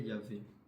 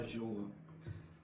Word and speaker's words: Yahvé: siècle qui démontre que la vraie façon la plus claire c'est de prononcer le ce têra ce nom de Dieu comme Yahé Yavé et non pas Jéhovah.